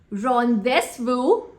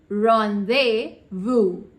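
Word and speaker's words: rendezvous: to bury her cat do you know the pronunciation of this word rondes Vu no totally incorrect the correct pronunciation is Ron beu Ron Vu listen Ashish I am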